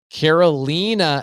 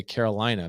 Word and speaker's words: Carolina: Carolina Allen. Her name is not how it is pronounced. All of us knuckleheads would say Carolina, but it's Carolina.